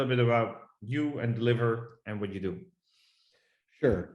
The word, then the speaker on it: DLVR: the ceo of deliver spelled with no vowels so dlvr but we pronounce it deliver and what we do